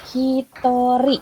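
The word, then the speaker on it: ひとり: kalau misalnya night sayangku untuk penyebutan orang di situ ada pengecualian ya untuk satu orang itu Please untuk satu orang itu penyebutannya Hitori Hai yang porno ah nggak satu orang itu Hitori udah Hai Maaf ada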